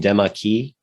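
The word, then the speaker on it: Demachy: uh look at uh i pronounced his name demockey yeah he was french so you know probably is probably the best uh pronunciation or close to that but yeah we could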